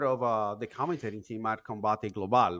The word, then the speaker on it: Combate Global: I mean, and you're also part of the commentating team at Combate Global, right? Am I pronouncing that correct? Yes, you were pronouncing Combate Global completely correct.